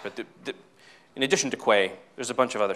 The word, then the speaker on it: Quay: which by the way it's official Quay is pronounced Quay according to this shirt so no I don't